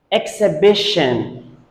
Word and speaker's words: exhibition: The next word is exhibition. Exhibition. Many students pronounce it exhibition, wrong. Exhibition, wrong. Exhibition. Exhibition. There are two schwa sounds here.